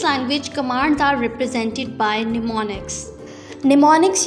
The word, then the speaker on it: mnemonics: The commands are represented in assembly language by short names called mnemonics, pronounced as mnemonics.